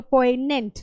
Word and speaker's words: poignant: So poignant, G is silent here, don't pronounce G, right?